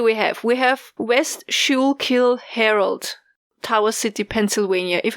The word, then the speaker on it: Schuylkill: We have West Schuylkill Herald, Tower City, Pennsylvania. If I mispronounce it, I'm sorry.